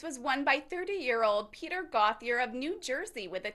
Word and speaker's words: Gauthier: Let me say, am I saying it right, Gauthier? Gauthier.